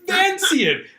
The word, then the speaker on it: Vancian: It's Vancian, named after Vance, the author who created the system. Okay. It's nothing to do with Italy.